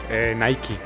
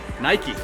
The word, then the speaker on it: Nike: Es muy interesante porque en Estados Unidos se dice Nike con la E al final, pero en muchas partes, por ejemplo en Europa, se dice solamente Nike.